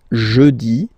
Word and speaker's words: jeudi: Next one, jeudi. Jeudi. Remember, when you combine this E-U, you get the sound E. Jeudi. Jeudi. So I insist a little bit, so make it softer.